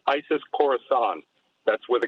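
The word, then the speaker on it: Khorasan: was carried out by a group called isis coruscant that's with a k krosan is how they pronounce it and the isis k organization is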